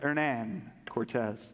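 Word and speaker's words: Hernán Cortés: Spanish conquistador their Nan Cortez I checked that pronunciation Pastor Abner before I got started so that's how you say ernan Cortez he set sail for the Yucatan Peninsula with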